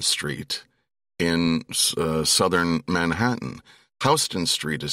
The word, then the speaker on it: Houston: of my colleagues is Hston Street in uh, southern Manhattan. Hston Street is spelled like the city Houston. They are not pronounced the same way.